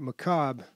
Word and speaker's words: macabre: Now, I hate to do this, but Macabre. Doesn't it mean like... It's spelled like that. Oh, okay. Yeah, silent R. Macabre.